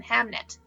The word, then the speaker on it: Hamnet: death of their son hamnet but there's a scene it's actually really sad victoria did pronounce that correctly hamlet is a play that shakespeare wrote but he did also